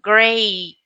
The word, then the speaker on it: great: Remember the E and A, it sounds, both vowels, they sound A, so great, great.